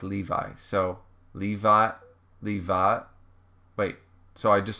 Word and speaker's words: Lev: So, Levi. Wait, so I just say Levi? Or you pronounce my name like Levi. So, Levile. Like I add the L on the end, like Levile.